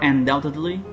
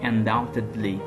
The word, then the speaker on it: undoubtedly: certainly I am, or undoubtedly. By the way, undoubtedly we don't pronounce D, okay? We say undoubtedly, okay? Undoubtedly. We don't pronounce this sound, which is B.